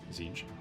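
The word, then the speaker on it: Tzeentch: Um, after Magnus screwed up Big E's warpgate project, one of Magnus' sons named Aramman made a deal with Zinch. I misspelled it. Pronounced Zingch.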